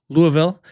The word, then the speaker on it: Louisville: Louisville, Kentucky currently.